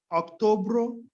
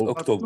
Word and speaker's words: outubro: Março, julho, agosto, setembro, outubro, novembro, dezembro. Exatamente, isso aí. he said October. No, I hear October. Outubro. Outubro. Outubro. Not October.